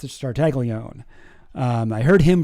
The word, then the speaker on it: Tartaglione: It's Tartaglione. It's not Tartaglione or Tartaglione or whatever. It's just Tartaglione. I heard him pronounce his own name.